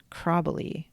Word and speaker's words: Chräbeli: Um So, she made her Swiss grandmother's recipe for Kräbeli. Um And I'm going to spell that for you. c h r a with an umlaut b e l i. So, they're called Kräbeli, but sh- my boss referred to them as